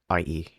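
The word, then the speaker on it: Necry Talkie: Nercy Talkie. Nercytalkie. The fuck? Yeah, Nercy Talkie. That's how you pronounce it, and that's the English spelling for it.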